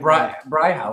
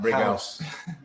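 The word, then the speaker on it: Brighouse: But not brick with a C. No, with a G. It's like brig. Like a really harsh G. Brig. Like Brig House.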